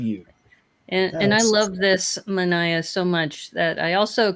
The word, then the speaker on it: manaia: And I believe it's called a manaya or a manaia. How do you pronounce that? Yeah, it's called a manaya.